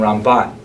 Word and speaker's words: Ramban: first syllable, Rambam, and Ramban is pronounced with the emphasis on the second syllable, Rambam and Ramban.